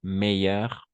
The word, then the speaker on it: meilleur: Bon, bon, bon, bon, meilleur, meilleur, meilleur, meilleur. Una cosa más fácil con el meilleur es que todos se van a pronunciar igual.